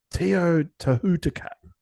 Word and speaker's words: Teotihuacan: I'll pronounce it for you, son. Teotihuacan.